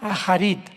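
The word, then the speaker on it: אחרית: Postreros es arit, así como suena con ch. Se pronuncia ait, a charitarrit.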